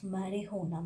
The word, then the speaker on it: marijuana: English word, but only we have one word that we can pronounce marijuana. Marijuana is the one single word that J is the silent.